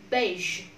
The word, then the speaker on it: beige: Now, A, beige.